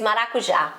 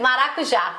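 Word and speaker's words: maracujá: passion we had uh we call in Portuguese marakuja okay can you say no I'll let you say that yeah you know say it again maruja marua no marakuja maruja no Mar marua you pronounce it so much better than I do you're going to feel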